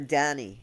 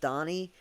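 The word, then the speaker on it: Dhani: wanted to call her Dany at first d h ni I like uh Danny um Harrison George Harrison's son but now I understand it's pronounced Donnie anyway I like the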